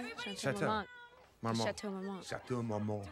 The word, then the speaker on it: Chateau Marmont: Chateau. Marmont.